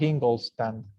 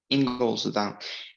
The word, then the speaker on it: Ingolstadt: How do you pronounce it? Ingolstadt. Ingolstadt.